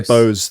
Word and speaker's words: Bose: say this brand name Bose is it or Boza Bose I would say Bose the the the brand